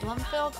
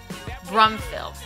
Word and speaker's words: Brumfield: Is it Bloomfield? I always say her name wrong. I even said to her, I was like, I think I say your name wrong, Shelley Brumfield. There we go.